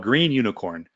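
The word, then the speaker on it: Gunicorn: air about G unicorn it's called green unicorn and for years I didn't know how to pronounce that I literally had to ask before this webinar what do we what are we calling this G unicorn so you can call it green unicorn you can call it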